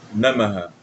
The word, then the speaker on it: नमः: Y ganha namah. Não, nha. Namah. ओम गम गणपतय नमः ओम गम गणपत नमः ओम गम गणपतय नमः Ah, esse é o mantra.